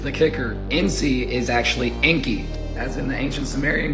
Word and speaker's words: Enki: noon cath yod which they will try to say that it says Enoki but phonetically it's literally just Inky which is inkyote and